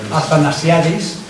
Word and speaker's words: Athanasiadis: ¿Cómo se pronuncia? Athanasiadis.